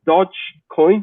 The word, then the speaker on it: Dogecoin: So it's the Doge coin. Have I pronounced that correctly?